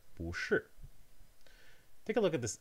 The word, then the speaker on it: 不: So the first syllable of this phrase, 不是, 不, has a consonant and a vowel, and of course a tone, a rising tone, 不.